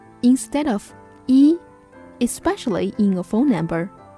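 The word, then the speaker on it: 一: In real-life context, you may hear some Chinese people pronounce the number 1 as yao instead of yi, especially in a phone number.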